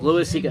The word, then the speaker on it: Loaisiga: I don't know why they pronounce it so bad. It's Loaisiga.